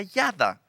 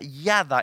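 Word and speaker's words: ידע: Es una palabra que en hebreo se pronuncia yada. Quiero repetir esto. Es una palabra que se pronuncia yada en el hebreo.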